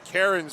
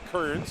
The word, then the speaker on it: Cairns: My apologies, I was calling him Cairns earlier because, we were used to Rory Cairns he played for the Sioux Greyhounds for a number of years, so clearly there's no relation, but his the pronunciation is Kearns, so.